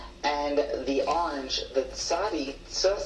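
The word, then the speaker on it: צדי: The second color is orange, and that is for the tzadi, which in contemporary Hebrew pronunciation is going to be a ts sound, like in pizza.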